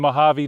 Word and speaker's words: Mojave: Again, another beautiful day in the Mojave Desert. Yes, that's right. This time I pronounced it correctly.